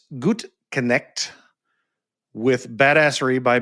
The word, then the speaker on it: Gutknecht: Uh joining me today, Gut Connect with Badassory by B. Did I pronounce that correctly?